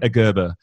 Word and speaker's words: Gerber: Correct pronunciation. Gerber.